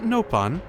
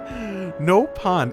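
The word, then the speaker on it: Nopon: is it pronounced differently no pawn isn't that not how you pronounce it nopan with a short vowel open oh my goodness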